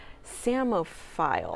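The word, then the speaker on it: psammophile: Dev won the spelling bee with the word samophile. How do you spell that?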